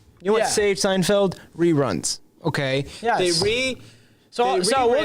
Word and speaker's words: Seinfeld: particular show but seinfeld it wasn't seinfeld like you sign and then i know but you just pronounce it signed failed i didn't know you failed that signing something i did not was it a non-disclosure correctly it's seinfeld i've signed multiple non-disclosure